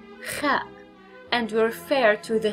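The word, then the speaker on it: خاء: This is the shape of the letter ha, and pronunciation again is ha. Then we have the letter kha, kha, and we refer to the kha letter as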